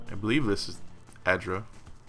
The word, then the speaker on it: Adra: Or Adra, as everyone keeps calling it. A fine poleaxe. We'll stash that. Your reflection warps and twists in the live gleaming Adra. And yes, I know everyone's pronouncing it Adra.